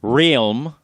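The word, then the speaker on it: Relm: Realm is, get this, Realm. That's weird. If they wanted to make it be pronounced Realm, they should have put an I or a Y, not a freaking E in there.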